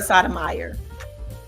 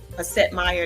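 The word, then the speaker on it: Setmayer: That's Tara Sotomayor. Setmeyer, that's how you say her name.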